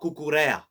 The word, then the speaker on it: Cucurella: Marc Cucurella.